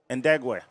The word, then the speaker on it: Ndegwe: How do you say his last name there, Matt? Number 23, Ndegwe. Oh, yeah. Yep, Jeffrey Ndegwe.